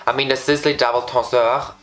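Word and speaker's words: Tenseur: I mean, the Sisley Double Tonsoir, I recently realized that I pronounced it wrong the whole time. It's Tonsoir.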